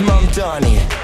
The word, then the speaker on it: Mamdani: The name is Mom Dunny.